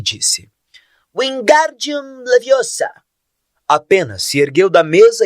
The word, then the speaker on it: Wingardium Leviosa: como Paz de Moinho você está dizendo feitiço errado har viu herm corrigir aborrecida wiard bem pronunciado e longo diz você então que